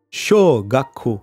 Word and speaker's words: 小学校: donc faites bien attention c'est show gacko pour l'école primaire et chouga quo pour